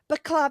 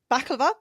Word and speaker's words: baklava: It was a nuance in the pronunciation. Okay, there we go. So now, baklava.